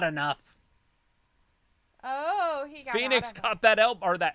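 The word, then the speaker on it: Fénix: whatever his name is phoenix phoenix but it's not spelled like uh the city it's fi like phoenix like phoenix like fen x yep phoenix that's funny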